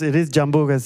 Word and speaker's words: Jambú: Am I saying it right? Jambú? Yeah, Jambú. I'm saying it with a J. So. Yeah, no, it is Jambú. It's from Brazil. Okay. It's like a tree from Brazil.